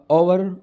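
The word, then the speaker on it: hour: दूसरा है और तीसरा ओवर ओनर तो इन दोनों में भी एच साइलेंट है तो ये दोनों जो है ना ओ का जो है ना साउंड दे रहे हैं ओ क्या है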